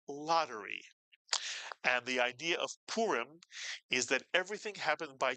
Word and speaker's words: Purim: You put the word together and you get purim.